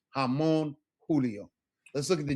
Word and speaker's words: Julio: J's are always pronounced as English H's. Por ejemplo, Jose, Javier, Jamón, Julio.